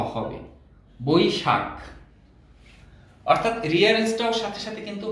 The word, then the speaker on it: বৈশাখ: বয় ঐকার, তালব্য শয় আকার, খ, বৈশাখ। স্বভাবতই দ্রুত উচ্চারণ করতে গেলে আমাদের বৈশাখ ক চলে আসে, কিন্তু এখানে আসলে বৈশাখ বানানে খ, খ হলো মহাপ্রাণ, খটাকে ধাক্কা দিয়ে বলতে হবে বৈশাখ।